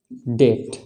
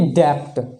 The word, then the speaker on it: debt: हमारे रूल के हिसाब से अगर बी जो है टी से पहले आए तो बी साइलेंट होगा, बी का उच्चारण नहीं होगा। तो इसका उच्चारण क्या हो जाएगा, डेट, है ना कि डेप्ट। डेप्ट नहीं होगा, क्या होगा, डेट। दूसरा एग्जांपल देखें, DOUBT।